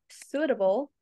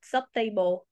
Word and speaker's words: suitable: before we keep going the word suitable is not subtable it's suitable suitable not subtable sub subtable if you